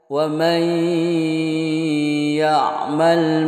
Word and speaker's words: وَمَنْ يَعْمَلْ: Nunnya tidak terbaca karena idgham, yaitu masuk ke huruf ya. Wa may, begitu. Bukan wa man ya, tidak. Wa may ya'mal misqala dzarratin syarran yarah, begitu.